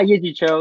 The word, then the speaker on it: Yee Jee Tso: Did I pronounce that right? It's Yee Jee Tso, right? Yee Jee Tso? Yeah, Yee Jee Tso, yeah.